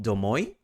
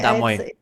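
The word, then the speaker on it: домой: In the same year they decided to release another single for the next release called domoy if I'm not wrong is the pronunciation damoy. My bad.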